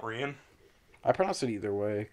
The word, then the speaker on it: Rian: about three years now I'll be calling her Ian Johnson yes I'm cryin like a idiot pronounce his own name right there's a that